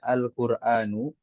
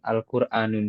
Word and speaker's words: Al-Quranu: Nah, Anda ingin tanya, sebelum lanjut, kenapa kita bacanya Al-Quranu, bukan Al-Quranun saja? Al-Quranu. Anda mau bacanya Al-Quranun. Al-Quran. Al-Quranu ya. Iya. Terus Anda bilang bacanya, kenapa nggak Al-Quranun saja? Ya, kenapa nggak tanwin saja? Hmm. Karena ada alif lam ya. karena ada alif lamnya.